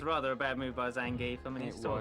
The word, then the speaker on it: Zangief: Yes, about comparable with Zangief here for reach. Also, something that keeps triggering me, and it shouldn't do, but it does. They keep on pronouncing Zangief's name wrong. It's not Zangief, it's Zangief.